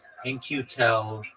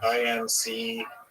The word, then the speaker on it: In-Q-Tel: In-Q-Tel companies. Just one moment, and I'll give you a breakdown. Like INCU. No. It's spelled very interestingly. It's IN-Q-Tel.